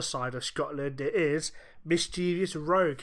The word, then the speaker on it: Mischievous Rogue: How's it pronounced? Mischevious Rogue.